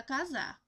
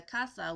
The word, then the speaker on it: casa: Para alegrar la casa, Abuela says in her merry voice, pronouncing the casa with a Z instead of an S.